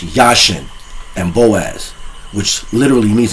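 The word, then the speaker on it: Jachin: And I specifically say Yasin because they will say Jashin and Boaz because it has a J. But you have to understand in the Hebrew dialect, the J is silent. So it's pronounced Yashin and Boaz, which literally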